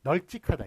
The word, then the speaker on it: 널찍하다: 다만 보시면 그 1번 널찍하다 있죠 널찍하다 같은 경우에는 겹받침일 경우에 뒤에 걸로 소리가 나지 않으면 발음대로 적어 준다에 따라서 널찍하다 리을 비읍인데 비읍으로 소리 안 나고 리을로 앞에 걸로 소리 나죠 뒤에 걸로 소리